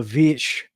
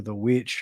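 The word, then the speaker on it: The VVitch: talking about 2015's the the vitch or the witch however you want to pronounce it Black Phillip is the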